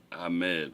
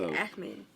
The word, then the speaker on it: Ahmed: I would have said Ahmed, but that's clearly the wrong pronunciation. Right. Okay, It's like Ahmed.